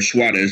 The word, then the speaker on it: Suarez: Or Suarez, as it's pronounced in Spanish.